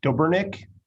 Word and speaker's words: Dobernick: tell me your pronunciation it's dobernick okay awesome i was doing that and then i was like no maybe it's dobernick no no no just like it looks gobernick i think that's